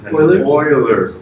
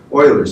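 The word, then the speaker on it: Euler: the name for this sounds like a well Oiler well yeah oil Oilers it's spelled EU not o i all right that's all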